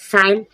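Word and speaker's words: sign: जी के बाद एन है। इसलिए जी साइलेंट है। साइन साइन मीन्स हस्ताक्षर साइन बोई प्रक्रिया जी के बाद एन जी साइलेंट।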